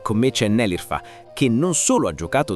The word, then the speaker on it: Nelirfa: Beh, vedo che anche tu sbagli la pronuncia del mio nome, ma molti hanno difficoltà a pronunciare il nome Nelirfa, si pronuncia proprio esattamente così.